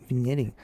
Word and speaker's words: vignetting: And then you get the vignetting. Vignetting? I put the G in there. I don't know, it's vignetting. There you go. Take the G out.